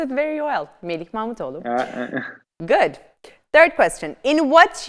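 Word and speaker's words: Melih Mahmutoğlu: Melih Mahmetoğlu. Thank you. Yes, you pronounced it very well. Melih Mahmetoğlu.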